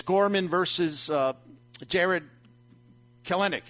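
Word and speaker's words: Kelenic: Gorman versus uh Jared kalenic it says how you say his name yeah colony in the 23 or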